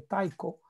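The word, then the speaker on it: Tycho Brahe: como lo quieran pronunciar inglés hablan de taiko en castellano yo hablo de dicho y bueno en alemán sería como dijo porque la ch como j pero además era danés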